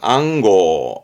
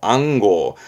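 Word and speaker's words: 暗号: 안지 안지 안시가 아닙니다 안지 안지 암호 암호 발음은 앙고 앙고 암호 그러면 알아두면 좋은게 요게 암증 번호입니다 우리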